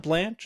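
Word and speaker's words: Blanche: Uh so, Todd Blanch, is that is that his name? Am I pronouncing his name correctly?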